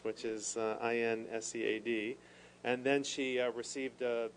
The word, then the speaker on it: INSEAD: from a French institution whose only acronym I'll pronounce, which is INSEAD.